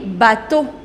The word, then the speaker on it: bateaux: However, this X is not pronounced. You do not pronounce that. The pronunciation of singular and plural, that remains same.